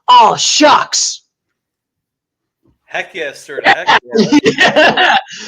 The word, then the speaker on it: Shough: It's not Show or Shuck. It's Shuck. I know it's spelled SHOUGH. Shuck. Shuck, pronounced Shuck, because I only know that.